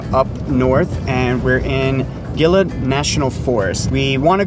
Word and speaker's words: Gila: viewers kindly pointed out to us that it's pronounced gila and not gila national force so excuse us throughout this video as we were saying gila but nonetheless enjoy the video and subscribe for